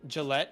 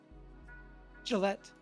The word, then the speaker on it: Gillette: Did you ever pronounce Gillette as Gillette? Did I pronounce it as Gillette? You did pronounce it as Gillette. That's my bad. I definitely meant to say Gillette.